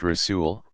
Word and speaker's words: Rasul: Rasul, pronounced Rasul, one who is sent.